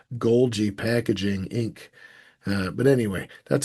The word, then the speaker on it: Golgi: Could be called Golgi Packaging Inc. But anyway, that's how I remember Golgi has a soft G and package also does.